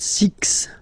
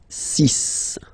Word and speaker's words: six: sank s s then be careful here because even if it's ending with this x well you'll have to pronounce it like s okay so you get the sis pronunciation s sis okay so it's not six it's sis all right then here